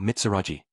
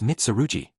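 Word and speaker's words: Mitsurugi: Oh, Mitsuraji, I said. Long time no see. It's<unk> Mitsaruji. Are you getting my name wrong on purpose?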